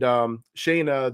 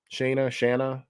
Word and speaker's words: Shanna: So Matthew Plunder is the son of Kazar and Shayna the she devil. Shanna, Kazar. You pick your pronunciation.